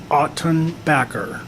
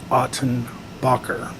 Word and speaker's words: Ottenbacker: aunt jackie would say it's pronounced autumn backer not autumn bocker thank you aunt jackie